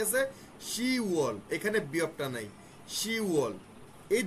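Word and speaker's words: 시월: October কি আছে, শিবওয়াল, শিবওয়ালের জায়গায় কি আছে, শিওয়াল। এখানে বিয়কটা নাই, শিওয়াল। এই দুটাই ব্যতিক্রম, এই দুটো একটু খেয়াল রাখবেন। 6 নম্বর মাসে ইউগোয়ালের জায়গায় ইউওয়াল, আর 10 নম্বর মাসে শিবওয়ালের জায়গায় শিওয়াল।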